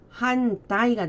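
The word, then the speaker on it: 反対: 반대, 위반 할 때 반자가 들어가고 자 발음 한따이가 됩니다. 반대는 한따이 그리고 위반할 때는 이항 해서 항으로 발음이 됩니다.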